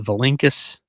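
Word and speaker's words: Vilinčius: He prefers his last name be pronounced the Vilinkus.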